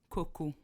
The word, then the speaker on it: XOXO: ce que je voulais dire tantôt par rapport à XOXO, c'est que j'aimerais nommer mon enfant XOXO, puis ça se prononce Coco.